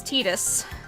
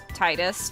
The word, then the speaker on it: Tidus: if you pronounce it Titus just don't get on me about it for pronouncing it the uh the right way no prob so uh it it comes from the Okinawan dialect meaning sun and Yuna is Moon